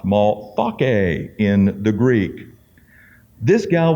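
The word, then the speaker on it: Malthace: we're going to talk about here it's not Mall face but it's pronounced maltake in the Greek this gal was a Samaritan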